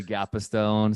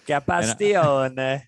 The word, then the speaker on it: Gapastione: All of the Americans say Gapastone. So, but I like the Italian with the hands up in the air. That's great. Gapastione.